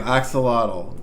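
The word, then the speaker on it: axolotl: There we go. Axelottle. That's how you pronounce or that's how you say it.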